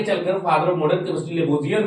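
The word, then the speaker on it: Lavoisier: हिंदी में देखिएगा तो लेवासियो लिखता है, लेकिन अंग्रेजी प्रोनाउंसिएशन जो इसका है लेबोजियर है ना।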